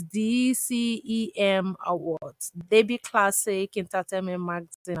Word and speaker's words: D'CEM: yeah in December the same award so it's D cem Awards Deb Classic Entertainment magazine award that is